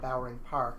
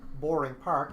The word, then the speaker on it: Bowering Park: going there now, was, I know it's called Boring Park, it's boring. I was mispronouncing it at the time, or misunderstanding what the pronunciation was.